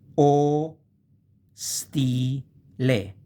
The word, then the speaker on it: ostile: O, stile, hostel. Ostile is divided in o, stile.